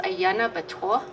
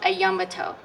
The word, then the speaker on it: Ayana Batoa: And the Navajo pronunciation, it's pronounced Ayana Batoa, which is buffalo's water. Ayana is buffalo. Batoa, Bih is theirs, and Toa is water. So it's Ayana Batoa. But in the English pronunciation, it's called Ayambato.